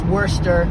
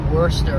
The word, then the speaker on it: Worcester: Because It's Worcester. It said like Worcester, but it's spelled like Worcester sauce.